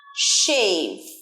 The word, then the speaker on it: shave: এর পরেরটা চুল দাড়ি কামানো, shave। তালবস্য ইউজ হয় বাংলায়, ইংলিশে SH, shave, shave। শুধু শ এর ডিফারেন্স, বাকি সব এক।